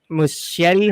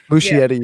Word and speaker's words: Muschietti: In terms of Andy Muschietti, is that how you say his name? Muschietti, yeah.